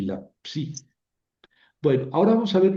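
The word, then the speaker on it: ψ: Entonces, hay que hay que pronunciarla como CS, la XI. y la psi, que la conocemos mucho por porque por la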